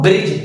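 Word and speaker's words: bridge: example के तौर पर बी आर आई दी जी इसको हम ब्रिज पढ़ते हैं यह जो जीके पहले दी है उसको हम नहीं प्रनंसीएट करेंगे बिकॉज ऑफ जी के पहले अगर शब्द में दी है तो उसे दी को हम साइलेंट रख देते हैं एक और एग्जांपल लेते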